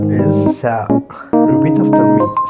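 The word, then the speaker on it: ث: This letter is tha. Repeat after me. Tha, like in th in thank.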